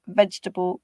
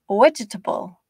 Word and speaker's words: vegetable: In English, they are pronounced with stress timing. So one of those syllables is pronounced more strongly than the other. Chocolate, vegetable, comfortable.